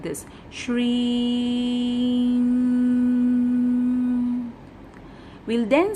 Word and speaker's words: Shri: The pronunciation goes like this: Shri.